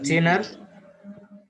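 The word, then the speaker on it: genre: জেনার উচ্চারণটা আছে বিভিন্ন রকম। এটা হলো মিউজিক্যাল একটা ফর্মস অফ মিউজিক। যে কোনো জিনিসের একটা ফরম্যাট থাকে। স্যার এটা কি জেনটা হবে স্যার? এটা আমার একটা জনরা। ওকে, জনরা।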